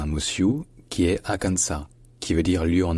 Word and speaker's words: Arkansas: Et donc de les Arkansas en français, c'est devenu Arkansas, Arkansas, en anglais américain. Donc comme vous l'entendez, encore une fois, le S à la fin n'est pas prononcé, parce qu'en français, il n'était pas.